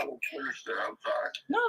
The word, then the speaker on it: Sinister: He don't like me calling him that. I keep forgetting not to pronounce his name like that. His name is Sinister.